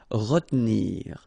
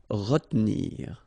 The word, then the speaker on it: retenir: Okay, so normally in that situation, well, you've got to pronounce this re, okay, but then you don't insist too much on this here, so it goes like retenir, retenir.